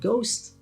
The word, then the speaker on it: ghost: And ghost, the H is silent there too.